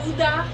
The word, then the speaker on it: Gouda: Gouda? That's how it's said in Dutch.